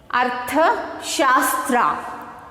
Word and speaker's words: Arthashastra: Arthashastra. So the Kautilya was wrote the book, that is the Arthashastra. So how to pronounce this?